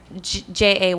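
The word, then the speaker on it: Gia: How do you say G-I-A? Jaya. It means victorious.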